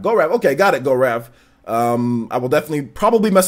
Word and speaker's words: Gaurav: definitely pick it up my name is pronounced go Rav okay it's a tongue-twister